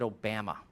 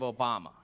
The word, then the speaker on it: Obama: It always said Obama instead of Obama. And I'm like, Jeff, you can't use that voice. It's terrible. It doesn't even pronounce our president's name correctly.